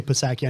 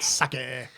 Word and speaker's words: Psaki: I always say Psaki. I know that's not how you pronounce it. Saki.